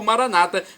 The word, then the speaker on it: Maranata: dizemos nós católicos ou Maranata com a tônica na penúltima sílaba como dizem nossos irmãos separados os evangélicos ou protestantes não importa a pronúncia